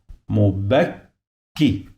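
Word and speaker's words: مبكّ: When you find this shadda, so you must pronounce the letter 2 times.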